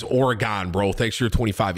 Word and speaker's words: Oregon: the other day and the way you pronounce oregon was pretty funny just has up it's pronounced or gun have a good fun weekend it's oregon bro thanks for your